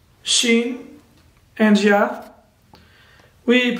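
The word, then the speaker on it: شين: The second one is Shin, Shin, Shin.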